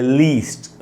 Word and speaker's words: list: और ये है दोस्तों लिस्ट, LIST, लिस्ट, ये छोटी ई का साउंड है, और इसको अंडरलाइन किया मैंने यहाँ पर, जिससे कि हम तेज़ी से इसको पढ़ेंगे, लिस्ट, लीस्ट एंड लिस्ट।